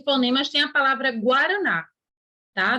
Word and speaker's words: Guaraná: Só que GU não é dígrafo, porque a gente não fala Guaraná. A pronúncia certa não é vou tomar um copo de Guaraná, né? A pronúncia correta é Guaraná, certo?